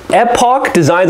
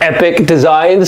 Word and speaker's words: Epoch Designs: It's Epoch Designs. I don't know if you can see this here, but if you watch some videos of this, sometimes they pronounce this as Epic Designs.